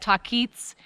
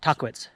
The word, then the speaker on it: Tahquitz: it chocolates she said rock climbers call it talk eats and the the indigenous people called it taqwish so but uh locals